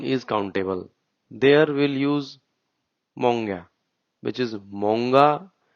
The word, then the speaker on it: många: There we'll use monga, which is monga, but we'll say it monga.